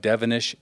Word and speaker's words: Devenish: And your last name is Devenish, and it rhymes with 7-ish.